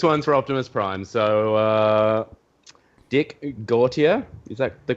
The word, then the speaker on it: Gautier: So, Dick Gautier, is that the correct pronunciation?